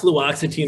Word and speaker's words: fluoxetine: question, and I'm going to mess up the pronunciation of this, but their question was, can they take cannabis and fluoxetine? Yeah, that's fluoxetine or Prozac.